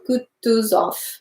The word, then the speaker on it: Kutuzov: Prince said Anna Pavlovna the general Kutuzov said Bolkonsky emphasizing the last syllable Zoff like a Frenchman IBM velu them what